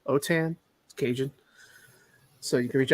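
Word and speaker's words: Autin: my name is last name is spelled a-u-t-i-n otan occasion so you can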